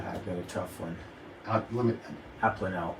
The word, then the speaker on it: Abplanalp: I had this whole, Lance gave me a training on how to pronounce his name, and then I've got a tough one. Abplanalp. Abplanalp.